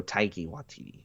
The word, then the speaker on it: Taika Waititi: Taika Waititi. There you go. Taika Waititi.